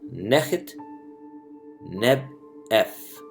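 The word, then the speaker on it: Nakhtnebef: of neck Denis beau which in ancient Egyptian is pronounced as net-net F and this means the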